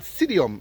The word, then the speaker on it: psydium: was saying earlier it's it's called sidium it's spelled p I think it's p s y d i u m but there might be different variations to the spelling essentially he called it sidium when I went onine